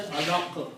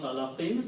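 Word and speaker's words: علق: And when you stop, you say alaq. You don't pronounce alaqin because at the end of the ayah.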